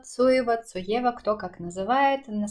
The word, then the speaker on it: Zoeva: посвящена кисточкам немецкого бренда Зоева, Цоева, Цоева, кто как называет. На самом деле говорить Зоева это неправильно, потому что в немецком Z читается как Ц, соответственно Цоева или Цоева уже будет звучать гораздо-гораздо правильнее.